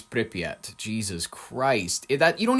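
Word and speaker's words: Pripyat: It is Pryotat. It's Pryat.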